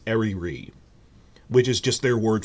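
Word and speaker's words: Eryri: is called I looked up in the Welsh pronunciation it's ariri which is just their word for Eerie which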